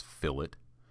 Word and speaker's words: fillet: and find fillet Edge it looks like filet but the way they pronounce it is fill it we're going to fill